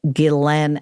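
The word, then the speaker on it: Ghislaine: epstein and glenn that's how you say it glenn maxwell and he started by researching a book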